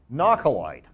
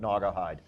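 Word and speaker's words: nahcolite: gypsum company produces there a knock alight now when i first saw this i mispronounced i think i called it naugahyde but not the light is we have significant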